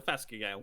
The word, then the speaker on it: Phascogale: Yeah, it's a Phascogale. Or, it's also pronounced chewin.